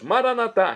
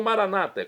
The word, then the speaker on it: maranatá: E agora eu clamo do aramaico dialeto de Jesus, maranatá, como dizemos nós católicos, ou maranata, como dizem nossos irmãos separados das comunidades evangélicas ou protestantes. Não importa a pronúncia, o significado é o mesmo.